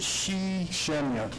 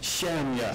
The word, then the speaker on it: Shemya: And like you said, you went to Alaska, and how do we pronounce that location? What was it? Shemya. Shemya. Shemya.